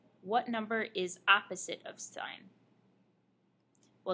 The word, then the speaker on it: sin: sign as a function it's written as s i n not pronounced sin pronounced sign so s of theta